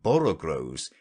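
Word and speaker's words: borogoves: rhyme with groves again the first o in borrow grows is pronounced like the o in borrow i have heard people try to give it the sound of the o in worry such is human perversity this also seems a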